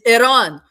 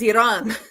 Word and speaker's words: Iran: But yeah, if you guys want to pronounce Iran properly, you kind of have to click your tongue a little bit. Um, that's at the R. That's how you uh pronounce it properly.